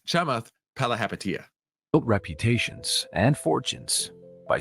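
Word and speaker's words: Chamath Palihapitiya: It's Chamath Palahapatia.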